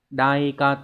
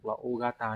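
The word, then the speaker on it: おおがた: là cỡ lớn và cỡ lớn đọc là ogat ogat Thy đánh ra luôn đây này Có thể người ta sẽ hỏi lại các bạn cái từ này đấy các bạn sẽ không đọc là da cat hay là à daat gì đâu ogata nhá Câu số 3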